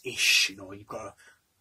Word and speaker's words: ich: Not ick, it's ish, you know, you've got to, I know a bit, you know.